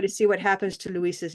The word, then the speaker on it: Luis: How many syllables in Luis? 2 syllables. 2 syllables? Okay, good. And where's the stress? Luis. Luis. Everybody listen and say it. Luis.